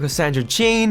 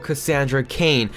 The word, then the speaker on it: Cassandra Cain: Superwoman, then we have Batgirl Cassandra Jane, then we have Shazam. Alright, so here we go guys. For Batgirl, it's actually pronounced Batgirl Cassandra Cain, just like in my name, except taking a 9 part out, it's Cain.